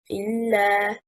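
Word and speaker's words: إلا: The word إِلَّا means except for. It is one word. The correct stress is on حركة الهمزة, an acceptive particle.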